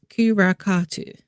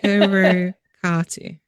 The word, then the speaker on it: Karrakatta: It's pronounced Kurakatu. Okay. Kurakatu, I think it's pronounced.